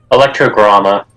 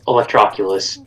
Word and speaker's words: Electroculus: I do not know how to pronounce electro crystal. Electrogramma. Electrogramma. No, those Electroculus.